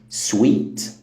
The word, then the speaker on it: suite: وهشرح كمان معانيهم الاساسيه اول كلمه هي سويت والتانيه سويت برضو والثالثه ست سوت سوت تعال نبتدي باول واحده